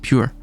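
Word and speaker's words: πῦρ: That's how how it's uh pronounced pure.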